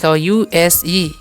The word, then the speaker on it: use: इसके आगे U S E लिखा है, इसलिए हम इसे 'use' पढ़ते हैं, जिसका अर्थ है कि यहाँ 's e' का उच्चारण 'z' की तरह होता है।